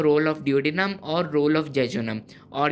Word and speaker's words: duodenum: उन three parts में जो हमारे पास सबसे पहला पार्ट होता है उसको हम लोग कहते हैं डियोडिनम। ये मैं आप लोगों को प्रॉपर प्रोनाउंसिएशन के साथ बता रहा हूँ, डियोडिनम।